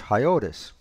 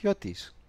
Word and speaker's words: Hiotis: And other people prefer to pronounce it as Hiotis. Either way, I find either pronunciation acceptable. And if you are brave enough and courageous, you can pronounce it the Greek way, which is Hiotis.